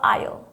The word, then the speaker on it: I'll: aqui a gente fala I'll. Olha como encurta.